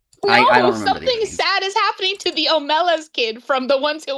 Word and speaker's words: Omelas: If you think about it, Hollow Knight is an Amelis kid. True. Oh, I forgot that it's pronounced Omelas.